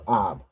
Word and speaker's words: Ab: It's pronounced as Ab. How would you say 5th month in Hebrew? And how would you say Ab in Hebrew? Qadash. Qadash Kamayasha, and to say Ab in Hebrew, it would be Ab. Exactly. Well done. Right. So 5th month is Qadash Kamayashya. Right. So Qadash meaning month, Kamayashya is 5th. And the Hebrew for Ab is pronounced the same, Ab. Right.